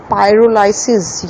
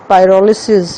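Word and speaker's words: pyrolysis: उसके अलावा एक और मेथड जिसे पायरोलाइसिस या पायरोलिसिस या पिरोलिसिस, तीनों तरह से आप प्रोनाउंस कर सकते हैं।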